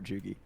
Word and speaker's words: Chugi: You got to do a hard G for Chugi.